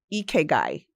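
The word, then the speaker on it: ikigai: It's Japanese and it's eguy is the word. And I love that even the way it looks when it's spelled.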